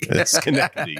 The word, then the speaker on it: Schenectady: Schenectady, yeah.